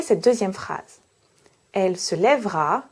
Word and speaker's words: lèvera: La règle est donc, lorsque j'ai deux consonnes prononcées avant mon E, je dois prononcer le E. Mais si j'ai un seul son consonne prononcé avant mon E, je peux prononcer le E ou non.